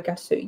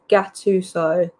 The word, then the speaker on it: Gattuso: I'd take Sean Dyche over Gattuso.